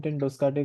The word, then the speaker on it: ten Doeschate: उसका pronunciation Google किया तो उसका रायन टेन डोस्काटा ऐसा सरनेम है उसका। उसका प्रोनाउंसिएशन है तो वैसे ही प्रोनाउंस करेंगे, उसका हम उसको राया नहीं बोलेंगे आज से।